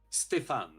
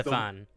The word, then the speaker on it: Stephane: So, I guess I'll start off by asking you, what is the exact correct pronunciation of your first name? Stefan. Okay, so it is the- Stefan.